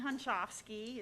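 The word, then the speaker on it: Hunschofsky: you got to educate us all on the pronunciation of the last name. Hi, everybody. I'm so grateful to be here. I'm Christine Hunchofsky.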